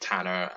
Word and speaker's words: Tan: tanner yeah yeah uh it's spelt out tan or but i've always just uh heard it tanner and now i just go by tan essentially which is a welsh word for fire which is fun oh